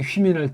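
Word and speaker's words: ὑμῖν: 그다음 또 여기 휘민할 때 요거 휘 발음. 아니 이걸 왜 휘라고 할까? 걔네 이제 이거 왜 소리가 글자 쓰는 게 좀 잘 안 됩니다. 네. 이걸 이렇게 휘라고 합니다. 이걸 후라고 하면 안 됩니까?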